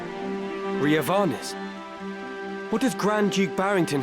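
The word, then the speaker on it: Riovanes: Why are we pronouncing like that? It's Rio veins. Come on. or even Rio veins if you're feeling fancy. Rioanes, what does Grand Juke Barington have to do with this?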